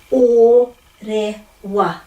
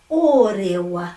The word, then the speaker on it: Orewa: And orewa. Remember that? O. It's only ever going to be o. Orewa.